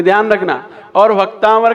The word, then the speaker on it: भक्तामर: और भक्तामर का पहला अक्षर ही आपको शुद्ध करना है सभी लोगों को, क्योंकि पहले अक्षर में सभी लोग भक्ताम्बर बोलते हैं, भक्ताम्बर बोलते हैं, जबकि